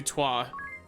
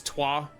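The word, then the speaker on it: Trois: Which means that I can equip Undo Toi. That is how that's pronounced, right? T-R-O-I-S? That is Toi.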